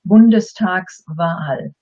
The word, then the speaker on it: Bundestagswahl: If we didn't have the S, it would be pronounced as two words. Then it would be Bundestag, and you automatically take a breather, Wahl. By adding the S, you can actually say it as one word, Bundestagswahl. But what is it?